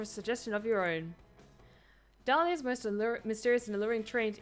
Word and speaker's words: Dahlia: suggestion of your own dahlia's most mysterious and alluring trait is the silent h in their name start planting silent pages